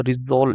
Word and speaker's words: rissole: Aroma of samosas, वैसे samosas को English में, समोसे को रिजोल, ये प्रोनाउंसिएशन इसका देख लेना, रिजोल होता है आई थिंक, है ना। ये कहते हैं, आर आई है ये गाइस, RISSOLE।